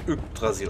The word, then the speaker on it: Yggdrasil: Nicht X, da wird ja Yggdrasil ausgesprochen.